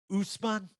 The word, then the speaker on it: Ousmane: I think that's how it's. Am I saying that right? Ousmane? It works for me. Yes, you're saying it right.